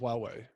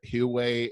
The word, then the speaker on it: Huawei: I think it's pronounced Huawei.